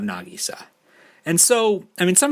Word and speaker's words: Nagisa: be aware that it's going to be pronounced nagisa and not nagisa and so i mean